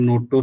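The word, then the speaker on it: NOTTO: three main organisation है नोटो सोटो एंड रोटो एन टीटीओ shirt ma'am नोटो सोटो ऐसे भी प्रोनाउंस करते मोस्टली इनकी जो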